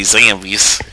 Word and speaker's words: zombies: See, that's how you say it down here. You say, you don't say zombies, you say Zambies.